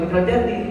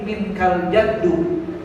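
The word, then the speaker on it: منك الجد: Bukan minkal jaddi, minkal jaddu. Kadang saya dengar orang bacanya keliru, minkal jaddi juga, dari mana larinya.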